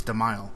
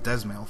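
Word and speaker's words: Dzemael: learned how to pronounce demile I thought it was desil for a while but I guess the D is silent okay back to it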